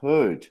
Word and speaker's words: heard: Beware of heard a dreadful word that looks like beard, but sounds like bird.